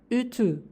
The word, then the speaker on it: ütü: Trik membacanya yaitu mulut membentuk seperti ingin melafalkan I, namun kita lafalkan seperti U. Jadi I, U, I, U. Contoh kata dalam bahasa Turkinya ada ütü, yang artinya setrika.